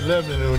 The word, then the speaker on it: Lebanon: mountain mountain that's right you know you're from tennessee if you say lebanon just one syllable 4066b north mount julia